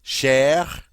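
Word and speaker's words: cher: Share. Share. Notice the masculine share. C H E R and the feminine share. C H E X on grav E are both pronounced the same.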